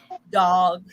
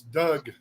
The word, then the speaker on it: Doug: I get that all the time from sorry, dog. It's Doug. Doug, Doug. as in D-U-G, Doug. Yes, the O is silent.